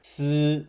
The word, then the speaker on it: 司: The pronunciation of the character "司" is similar to the English word "sit", which can be used to help you remember the character.